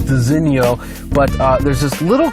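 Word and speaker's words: designo: mention first of all this is pronounced designio but uh there's this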